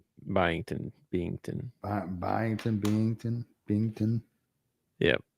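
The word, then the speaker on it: Byington: Their coach is Mark Bington. Mark what? Spell it. B Y I N G. T O N. Bington.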